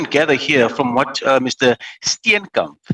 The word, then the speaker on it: Steenekamp: Steenekamp said, just to help you with the pronunciation, it is Mr. Steenekamp.